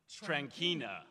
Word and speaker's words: Trankina: That would be Trankina. Thank you. Yes. Pronounced Trankina.